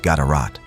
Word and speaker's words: GDRT: One notable example comes from King GDRT, possibly pronounced Gatarat, who appears in inscriptions in Yemen, demonstrating Oxom's reach into the affairs of the Arabian Peninsula.